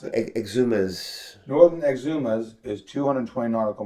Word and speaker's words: Exumas: How do I pronounce it? Exumas.